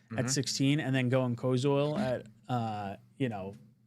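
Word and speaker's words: Koziol: Kilos, how do you pronounce it? Kosil Kosil.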